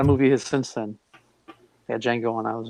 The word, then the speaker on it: Django: his since then yeah Django and I was like this isn't fair to even learn how to pronounce it I thought the D was not silent so I was like the Django and Jane I used